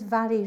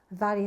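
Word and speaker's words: Mhairi: So my name is Vary. Vary is spelled M-H-A-I-R-I, and I'm a senior stop smoking specialist with SmokeFree Hull.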